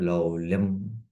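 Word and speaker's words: लौल्यम्: So here Atyahara Prayascha and Niyamagraha Janasangascha Laulyam. Anuswara should come here. Laulyam, should come from the nose.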